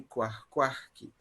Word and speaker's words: cuahcuahqui: So this word already has an aspiration. Cuah. Remember UH in the middle. H has a voice and U is silent.